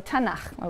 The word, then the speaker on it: Tanakh: Tanakh, which is really the letters T, N, and Ch. And they put little A's in there to make it easy to pronounce, because it's hard to pronounce. So Tanakh, okay?